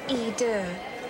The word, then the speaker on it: Eau de: It's pronounced Eau de.